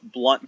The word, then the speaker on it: Blount: to my website jeb blunt comm now my last name is spelled BL o UNT pronounced Blount in some places in the country one-nothing it says I pronounce it blunt but blunt comm